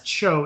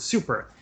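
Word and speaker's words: 超: Japanese character for super, which is read as Cho in Japanese, but it's indicated that it should be pronounced as the English word super.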